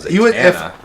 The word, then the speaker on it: Zatanna: I want to read more about Zatanna. Who? Zatanna. I don't even know who that is. Zatanna. Am I saying it wrong? My bad. No, you're good.